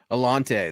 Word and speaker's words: Alontae: Alante, that's how you say Yep. it. Okay, Alante cool. Because Taylor. I absolutely butchered Alante Taylor.